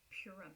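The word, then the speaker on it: Purim: Um so they They celebrate and if I'm if I mispronounce I'm so sorry. Purum.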